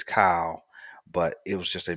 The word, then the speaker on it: Kyle: this past game um Cal Hamilton and I know somebody corrected me I know his name is Kyle but it was just